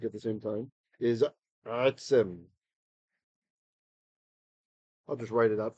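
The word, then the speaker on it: עֶצֶם: It's a segalit, meaning it's got two segols in a row, and they usually indicate that the accent will be on that first syllable.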